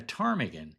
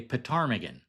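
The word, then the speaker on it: ptarmigan: And by the way, if you don't know, a Tarmigan is an Alaskan bird. It's pronounced Tarmigan, but it's spelled P T A R M I G A N. And only a chako would say Petarmmagan.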